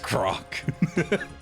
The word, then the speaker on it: Grok: It's pronounced Grok.